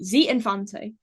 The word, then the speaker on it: Z Infante: But during the recording sessions with forgive me if I sorry if I pronounce their name wrong, Z Infante. That's Z. correct.